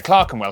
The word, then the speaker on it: Clerkenwell: ER is pronounced R. Berkshire, Clerkenwell, Hertfordshire.